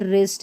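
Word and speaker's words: wrist: यहाँ पर ये जो W है इसको हम प्रोनाउंस नहीं करेंगे, इसको वराइट नहीं राइट पढ़ते हैं, वरॉन्ग नहीं रॉन्ग। और ये देखिए रिस्ट है और ये रेंच है, ठीक है, रेंच।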